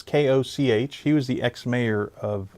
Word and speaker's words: Koch: Cox? It's Koch.